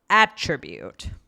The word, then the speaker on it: attribute: Um so the first one is attribute. Yes. Okay. Stress on the A.